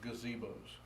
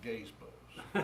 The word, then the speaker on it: gazebos: to aggravate my mother the proper terminology is gazebos but my mother used to pronounce some gays bows but but if you